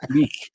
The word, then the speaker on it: Kulich: You kind of have to get a little phlegmy, like in the back of the mouth. Kulich.